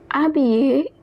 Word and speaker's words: habillé: Un grand homme habillé en noir habillé. Remember that h in the beginning of a word is always silent, and double l is pronounced as yuh, like the alphabet y,